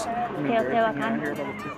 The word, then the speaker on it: Teotihuacan: Teotihuacan. Teotihuacan?